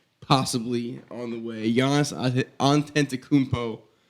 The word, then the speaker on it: Antetokounmpo: Giannis Antetokounmpo. Don't forget the extra. You got extra syllable. Antento. It's the toe at the end. Antetokounmpo.